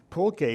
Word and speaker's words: pulque: And I understand that there are these boutique varieties now of pulque, which are starting, I've been told, to make a comeback in terms of, people wanting to try some of these exotic beverages.